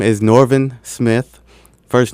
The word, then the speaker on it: Norvin: because people always ask how do I pr pronounce my or spell my first name so my my name is norvin Smith first name is n o r v